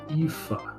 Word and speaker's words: Aoife: Okay, so according to Google, the pronunciation of the name is Aoife.